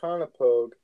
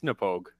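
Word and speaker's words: Knappogue: But yeah, the Conopogue, or I should probably look at the thing because it tells you how to pronounce it on the. It's Napogue.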